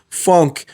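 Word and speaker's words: phonk: esse gênero lá, eles chamam de funk. Fonk, eh, se escreve ph.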